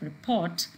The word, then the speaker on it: report: Here, the words like report and design, whether they are used as verbs or they're used as noun, the stress is on the second syllable.